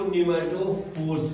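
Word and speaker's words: pneumatophore: उसी को निमेटोफोर्स कहते हैं। क्या कहते हैं? निमेटोफोर, पी साइलेंट है, निमेटोफोर कहते हैं, ठीक है।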